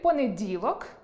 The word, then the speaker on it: понеділок: Наприклад, у слові понеділок наголошеним є «і».